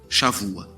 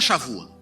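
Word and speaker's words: שבוע: Está um B aqui, porque em hebraico B, dependendo da posição dele na palavra, ele tem som de V. Então você escreve B, mas aqui pronuncia V. Shavua. O que é a Shavua?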